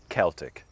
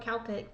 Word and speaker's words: Celtic: Well, in Ireland, typically we say Celtic with a K sound. We do say Celtic sometimes, like for the Glasgow Celtic soccer.